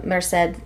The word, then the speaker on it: Merced: lot of familiar faces the only person I don't immediately recognize so far is Isabella Merced that's how you say her name I was gonna say